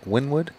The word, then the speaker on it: Wynnewood: Wynnewood?